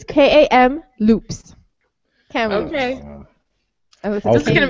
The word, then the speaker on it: Kamloops: It's K-A-M loops. Kamloops. Okay. This is going to be hard. Nobody's going to have a story next week. No. No stories. Oh, you mean Kamloops.